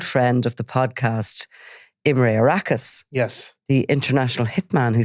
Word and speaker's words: Arakas: And in fact, I think Imre Arakas may even be pronounced Imre Araka at times. So, we'll call him Arakas.